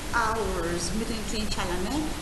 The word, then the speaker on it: hours: when no a baker goes to work Baker Baker number two hours later two hours H silent h 2 hours later he comes